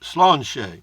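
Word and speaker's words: sláinte: spelled s la I and te but it's pronounced Sloan's Sloan Shay Sloan the let's do it PJ biker full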